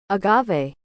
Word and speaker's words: agave: alternative to honey and you say like this Agave Agave is a succulent native to Americas it